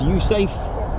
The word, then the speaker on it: USAFE: of tankers to 15 US Air Forces in Europe pronounced usafe announced the uh relocation